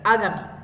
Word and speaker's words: আগামী: স্বাভাবিক আগামী, আগামী আমরা জানি যে দীর্ঘ ইকার থাকলেও তার উচ্চারণটা হবে হ্রস্ব ইকারের মতো, এই কারণে দেখো বানানে